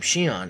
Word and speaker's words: Xion: Xion, or as the game pronounces his name, Xion, is one of the few zoanthropes who wants